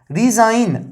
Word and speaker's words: resign: तो DESIGN डिजाइन, तो यहां पे जॉ हो रहा है इसका, और ये जी हमारा क्या है, साइलेंट है गाइस। रिजाइन, RESIGN रिजाइन, तो यहां पे भी जी हमारा गाइस क्या है, साइलेंट है।